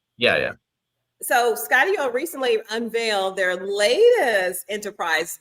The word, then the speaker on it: Skydio: So the company's called Skydio. The name comes from putting together Skydio. Sky Okay. Studio. Yeah. So Skydio recently unveiled their latest enterprise drone.